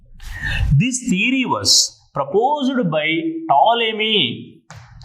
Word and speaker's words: Ptolemy: This theory was proposed by Ptolemy, where P is silent here. Ptolemy in 2nd century. This theory given by Ptolemy in 2nd century according